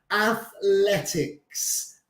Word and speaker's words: athletics: También se pronuncia athletics. Athletics. So con la lengua entre los dientes.